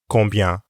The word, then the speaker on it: combien: In French, that's combien. Combien? The first part of this word, con, has the same sound as in bonjour. And the second part sounds exactly the same as bien from ça va bien.